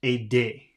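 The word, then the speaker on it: aider: i d e r so that should be pronounced a day let's see let's see a day okay now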